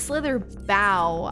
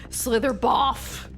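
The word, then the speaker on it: Slitherbough: Some words that are spelled like that have the off sound. Some have O, some have ah. I don't know. Or ow. But okay, I know. It's Slither Bow.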